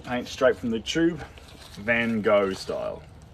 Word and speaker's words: Van Gogh: And for those who think you don't say Van Gogh like Van Gogh, you're right. That's how the Americans say it. If you want to say Van Gogh like the Dutch, you say Van Gogh. Van Gogh. Van. Yeah. So, but if you are American, I think the correct way to say it in America is Van.